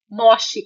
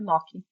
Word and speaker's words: Mochi: Mock é escrito Moshi com CH, que é pronúncia italiana, Mock.